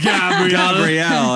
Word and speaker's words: Gabriel: Her husband, Steve, played by Gabriel Byrne, or Gabriel, I guess. If we're in America. Gabrielle, if you want to be, pronounce it correctly.